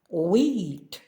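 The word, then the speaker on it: wheat: слова сьогодні у буквосполученні WH на початку слова вимовляється тільки w Як без H смуга What що скільки We пшениця колесо When коли Where де куди котрий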